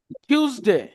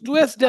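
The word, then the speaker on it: Tuesday: টিউসডে, টিউস, টুয়েসডে না, টিউস, ঠ ঠ, ঠিক বলি না, ঠিক খেলাগাড়ি, ঠিক আছে।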